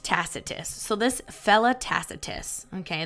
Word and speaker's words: Tacitus: say this man's name tacitus I was right tacitus so this fella tacitus okay the the Roman